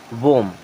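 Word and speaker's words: womb: एम बी यहां पर भी इसे क्या पढ़ेंगे मम डी यू एम बी डम क्या पढ़ेंगे डम इसे बी को साइलेंट रहेगा अब ये लिखा है क्लाइम क्लाइम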